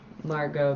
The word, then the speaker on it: Margot: Margo, the tea is silent.